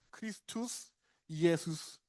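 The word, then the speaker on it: Χριστὸς Ἰησοῦς: 크리스투스 이에수스. 사실은 발음을 절어서 이렇게 나왔는데 어쨌든 그렇게 읽을 수 있어요.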